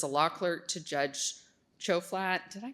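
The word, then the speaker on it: Tjoflat: He served as a law clerk to Judge Chofflat. Did I pronounce that correctly? You did. Choflat on the 11th circuit.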